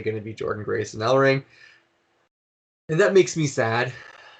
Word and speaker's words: Ellering: Ellering.